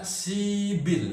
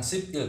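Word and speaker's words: 십일: lagi 10 dan 1 dibacanya sibil ini naik ini bannya naik maka sibil bukan sipil tapi dibacanya kalau 15 maka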